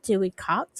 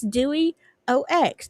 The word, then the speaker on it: Dewey Ox: It's not Dewey Cox. It's Dewey OX. Dewey Ox. I've been saying it wrong forever.